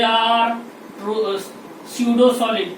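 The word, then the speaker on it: pseudo: दूसरा पॉइंट बोल सकते हैं कि they are true solid, they are true स्यूडो solid, PSEU डुओ, यानी P साइलेंट है यहाँ पे, स्यूडो solid, they are स्यूडो solid.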